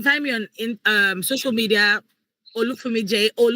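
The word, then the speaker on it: Olufunmi Jay: Say Olufumi Jay.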